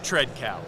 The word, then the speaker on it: Tredcal: Tredcal.